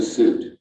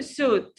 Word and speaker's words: suit: It's not suit, or I do remember Egyptians said it in Arabic, it's suit. I don't remember it, but this is a common mistake. It's a suit. Suit. U vowel.